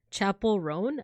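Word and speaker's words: Chappell Roan: the way is it Chappelle Rowan or Chapel Rowan Rowan it's George versus a pulling who's going to get it who's who's winning who's getting it Chapel rone oh okay pronounced like Chapel oh okay okay it's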